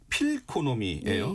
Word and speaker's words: 필코노미: 그 다음 키워드가 필코노미예요. 네, 필코노미. 네, 발음해야 맞습니다. 되나요? 네, 지금 발음 잘해주셨는데요. 그 느낌 할 때 feel 해서 이제 이코노미를 붙여서 저희가 필코노미라고 이름 붙였고요.